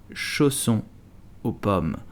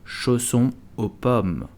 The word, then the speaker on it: chausson aux pommes: So how do you pronounce chausson aux pommes? You will simply say chausson aux pommes. Chausson aux pommes. Chausson aux pommes.